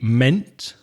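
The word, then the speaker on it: -ment: As we saw before with ment, meant.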